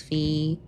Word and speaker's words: fee: I speak English, and fee is just pronounced as fee. No fey here.